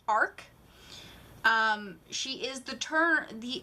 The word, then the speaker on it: RK: so meet this character her name is RK that's how it's spelled it's pronounced Ark she is the turn